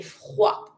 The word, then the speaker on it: froid: Because it's finishing with a d, mute. Don't pronounce the d.